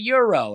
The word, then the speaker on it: gyro: like the like a gyro right everybody's like it's a Euro and I'm like I don't do silent G's you know what I